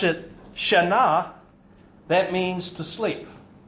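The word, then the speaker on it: שנה: if you pronounce it shaah that means asleep if you pronounce it Shana that means change so what language was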